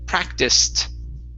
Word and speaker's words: practiced: This ed here will then be a T sound. Okay. So this is going to be practiced with a T at the end.